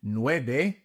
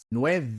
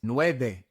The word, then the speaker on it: nueve: The V in nueve is pronounced like a B in English. It is not nueve. It is nueve. Nueve.